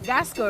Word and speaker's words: Gasco: Gasco, right? Yes, that's how it's pronounced.